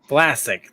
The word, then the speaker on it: Vlasic: Vlasic.